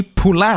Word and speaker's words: Poullain: the show Mr Frankie Pula how are you sir thank you for joining us very good and even better hearing my name pronounced correctly for the first time in 20 years well I will admit